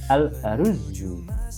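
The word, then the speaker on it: الأرز: Karena belakangnya huruf e belakangnya zu ya, hurufnya berharakat domah ya, huruf zai berharakat dah dan ada tasdidnya ya, maka dibacanya double alarzu ya.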